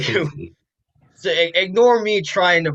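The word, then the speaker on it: Wyshynski: The source for this was Greg Wishenik, Wishenik, Shicky. Wyszynski. Thank you. Wyszynski.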